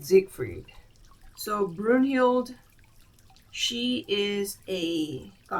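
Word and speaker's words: Siegfried: So this guy these people are um Brun and Sigfried. Let me double check the pronunciation. Ah so um Brunhild and Zigfried.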